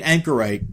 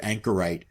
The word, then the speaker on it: anchorite: Um if you've never heard of this, I really recommend googling the word anchorite. Uh it's spelled like a ship's anchor with it on the end.